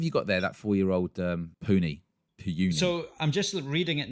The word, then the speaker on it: Puni: So this is Puny. Is that how you say it? I think so. Puny? And that's Puni, not like saying something's puny, like it's weak.